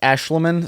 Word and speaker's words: Aeshliman: So apparently his name is pronounced Aeshliman, so edit to the future self in case I pronounced that wrong.